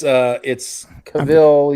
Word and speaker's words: Cavill: You got me Henry Cavill in my mind, but it's Cavill.